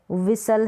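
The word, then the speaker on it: whistle: S कैसे पढ़ा जाएगा, जैसे कासल है, कासल है, T यहाँ पर साउंड, T जो है ना यहाँ पर साइलेंट है, S है T से पहले वहाँ पर। जैसे ये बसल है, रैसल है, विसल है, हसल है, T का साउंड नहीं आ रहा है, T का यानी ट को हम प्रोनाउंस नहीं कर रहे हैं T के लिए।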